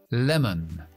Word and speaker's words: lemon: Limón. Lemon. Lemon. Acentuamos al principio. Dejamos la schwa después.